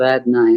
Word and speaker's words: Adonai: now that I'm finished was I pronouncing Adonai correctly or is there another pronunciation that's fine yep okay thanks I don't I that's right it came go ahead Kate